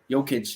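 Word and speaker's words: Jokić: It's a J, but it's pronounced like a Y. Jokic, yeah.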